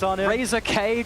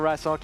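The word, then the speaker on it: Razork: misfits rookie coming in with the jungle, Razer K cuz we didn't know how to say it properly then. And I love it. I love it for Rasok.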